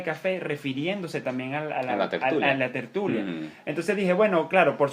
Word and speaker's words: tertulia: Que además, tertulia tiene acento en la U.